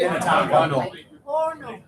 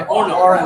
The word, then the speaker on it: Orono: Orono. Orono. Okay, Orono. Like a little like a little stove.